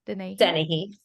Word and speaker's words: Dennehy: Did I pronounce that correctly? Dennehy.